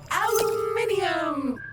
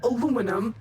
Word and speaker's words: aluminium: Aluminium! Or aluminum, as Americans pronounce it incorrectly.